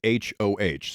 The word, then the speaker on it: Hoh: that ho is spelled hoh so it's heart of the hoh and hoh is pronounced ho so that's that's what